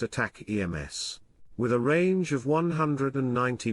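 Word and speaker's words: ATACMS: would send a missile called ataks pronounced attack EMS with a range of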